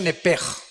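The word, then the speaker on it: נֶפֶשׁ: Digo, por favor, esta palabra alma en el original hebreo es la palabra nepes. Apúntala como suena nepesh con sh se pronuncia nepej.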